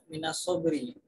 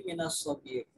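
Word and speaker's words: من الصبر: Sabdanya Nabi Muhammad sallallahu alaihi wasallam, tarkud dunya, adapun meninggalkan dunia, amarru, ialah lebih pahit, minas sobir, itu bacanya bukan minas sobri, tapi minas sobir, ialah lebih pahit, minas sobir, dari pohon sobir, pohon yang sangat pahit.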